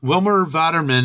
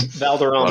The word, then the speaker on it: Valderrama: I thought this was cool news that Wilmer Vaderman, I think that's how you say it, is developing. Valderrama.